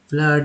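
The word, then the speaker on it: flood: अब देखिए double O में एफ L double O डी, फ्लड में ओ का उच्चारण जो है अ के रूप में फ्लड।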